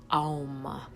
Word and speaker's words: Aum: this on other videos it's actually a four syllable word aum it's a-u-m and it was the